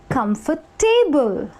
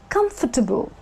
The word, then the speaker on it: comfortable: The correct pronunciation actually happens to be comfortable, which means come for table, where the A is actually subtle. You know, you don't give so much importance to the A.